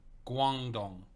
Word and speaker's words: Guangdong: Zhuangdong. Zhuangdong? Is it more of a hard G or a soft G? So like a guan? Is it a gu? Hard G, so Guangdong.